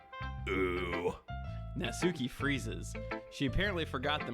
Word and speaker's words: Natsuki: butt is right now pronunciation it's like the the NAT at the beginning is not near as important as the souk in the middle natsuki oh guys I'm having